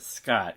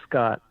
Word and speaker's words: Skaught: with your last name i pronounce it scott because it looks like caught with an s in front of it that's exactly right yeah it's just it's scott spelled weird but that's